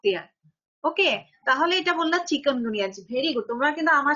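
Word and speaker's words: chikungunya: ওকে, second হলো চিকুনগুনিয়া। এটা must কিন্তু বলতে হবে চিকুনগুনিয়া।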